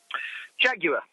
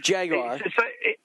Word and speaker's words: Jaguar: So it's if you look at the way it's spelled, it's Jaguar. So it's Jaguar. So Jaguar, not you. But the Americans put a W in it that doesn't exist.